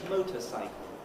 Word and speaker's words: motorcycle: Motor is a word, cycle is a word, motorcycle, stressed on the motor.